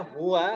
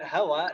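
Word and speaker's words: هو: Ini bacanya huwa dan hiya Ibu-ibu ya. Bukan hawa dan haya.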